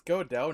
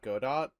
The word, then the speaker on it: Godot: is goto wait it's go dough not go dot the t is silent yes i found it